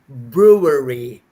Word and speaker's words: brewery: You see, brewing, brewery. Okay, it's brew, like Andrew, brew.